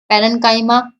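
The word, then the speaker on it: parenchyma: सी च की साउंड ना देके इसको क की साउंड दी जा सकती है। कैसे भी बोल लो आप, वैसे प्रोनाउंसिएशन सभी अलग अलग तरीके से करते हैं, लेकिन वैसे जो इसकी एक्चुअल प्रोनाउंसिएशन है वो क है।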